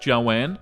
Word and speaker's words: Joan: Her name was Joan, but it was pronounced Joanne.